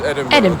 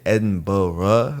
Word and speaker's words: Edinburgh: Like this is Edinburgh.